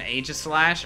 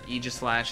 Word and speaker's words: Aegislash: The person has an Aegislash, or Aegislash as it's supposed to be pronounced, that's called Doc Claw.